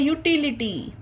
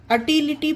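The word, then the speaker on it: utility: अब इसमें यू से स्टार्टिंग तो हुआ है, पर इसे अटिलिटी पढ़ना गलत होगा गाइस। इसे अटिलिटी नहीं, इसे यूटिलिटी पढ़ेंगे, क्योंकि यू के बाद एक लेटर आया, इसके बाद आई आया।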